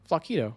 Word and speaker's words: Flaquito: Flaquito, like taquito, right?